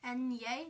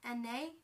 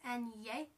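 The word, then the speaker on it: eñe: with a tilde above it um yeah it's pronounced the tilde is it means like an accent mark So n yay not n a it's n yay and then o can be pronounced as o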